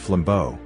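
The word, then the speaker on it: flambeau: after their introduction the flambo pronounced flambo meaning flame torch carrier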